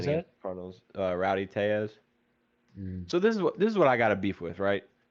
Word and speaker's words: Tellez: I mean, Mm, if he's Latin, then surely because the double L is a Y, no?